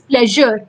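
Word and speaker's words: pleasure: तो इस तरह के अगर कोई वर्ड आते हैं जैसे प्लेजर, प्लेजर, अब आप देखिए हम प्लेजर को किस तरह से प्रोनाउंस कर रहे हैं. ये प्लेजर है या प्लेजर है या प्लेजर है. ये वर्ड जो प्रॉपर करेक्ट वर्ड है दैट इज प्लेजर.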